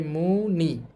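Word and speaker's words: 무늬: যেহেতু দুইটার কোনটাই বুঝাচ্ছে না। তাহলে হবে ই। সুতরাং এই শব্দের উচ্চারণ হবে মুনি।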